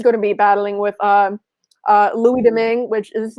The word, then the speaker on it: Louis Domingue: in, he is going to be battling with Louis Domingue, which is how you pronounce that third goalie's name.